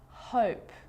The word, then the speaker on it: hope: Hop, hope, sit, sight, hid, hide, slid, slide. So see how the E at the end, although it's not pronounced, is affecting the vowel sound before it. It makes it longer.